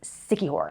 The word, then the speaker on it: Siquijor: cool I like it it's like a sticky horror you know so yeah